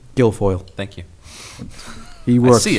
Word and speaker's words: Guilfoyle: How do you pronounce his last name? Guilfoyle.